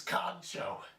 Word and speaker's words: kancho: Today's word is known as kancho, pronounced exactly the way it's spelled, ka-n-cho.